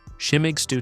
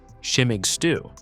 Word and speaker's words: Schimmeig Stoo: Shimmig stew tomato, Tom Wagner.